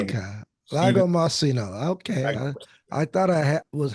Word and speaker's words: Lagomarsino: it I'd say 99.9% correct okay so it's Lago marcino my name okay Lago marcino okay I thought I was halfway right okay